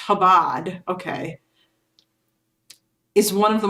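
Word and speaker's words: Chabad: It's pronounced Habad just like um him viceman instead of chime vice. Yeah. Okay. It's the C is silent.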